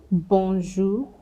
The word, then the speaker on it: bonjour: When you see AN, EN, ON, UN, now they're usually pronounced the same way. Banque, centre, bonjour, brun.